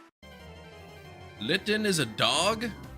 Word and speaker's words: Litten: Litten is a dog. Litten's no dog. It literally rhymes with kitten.